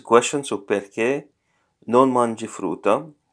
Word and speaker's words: frutta: So perché non mangi frutta? Frutta. Notice there are two consonants, letter T.